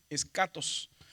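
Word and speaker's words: ἔσχατος: Que cuando hay una unión entre la sigma intermedia y la ji, la pronunciación es escatos.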